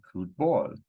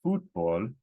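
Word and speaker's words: fútbol: soccer in Spanish and two syllables ends with a consonant so according to the rule it should be fruit ball but if I tell you that this word is football now you know oh this needs a written accent because the written accent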